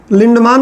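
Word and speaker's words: Lindeman: भाई थे, इनका नाम था रेमंड लिंडमान, कुछ लोग लिंडमैन बोलते हैं।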